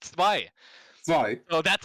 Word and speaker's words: Zwei: It's a German word. It means two, and it's pronounced Zwei.